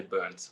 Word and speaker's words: Berndt: If you were in Germany, you would say probably close to what you said, but in America, we'll just say burnt, like burnt toast.